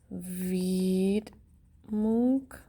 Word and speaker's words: Widmung: little bit on the first couple pages of vid moon it is pronounced vid monk more like okay at the end at the